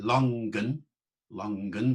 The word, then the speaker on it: longen: natuur, in here courages, than longen with the G pronounced, longen, Foulke with the L pronounced, remember, as we had earlier on with the L pronounced, to go on pilgrimages.